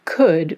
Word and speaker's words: could: In the case of could, we changed the spelling but not the pronunciation.